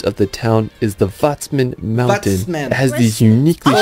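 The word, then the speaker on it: Watzmann: didn't know that and the W pronounced like a V vman like the way you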